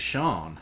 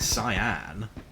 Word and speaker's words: Sean: My ex-wife's name was Shawn and like Sean is not even that uncommon of a name, but the number of people that pronounce it cyan, ridiculous. It's like there's a famous TV weatherwoman called Sean. How do you get that wrong?